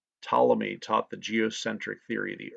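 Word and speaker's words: Ptolemy: center of the universe starts with a p a silent P tmy taught the geocentric theory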